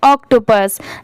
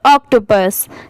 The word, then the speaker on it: octopus: जैसे OC की क्या साउंड आएगी ऑक की आएगी, TO2 होता है और PUS की साउंड क्या आएगी पुश की नहीं पस, तो इन तीनों को मिला देंगे तो ऑक्टोपस, ठीक है।